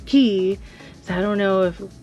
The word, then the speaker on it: Cay: K because you know Castaway key is spelled c-a-y but you pronounce it as key so I don't know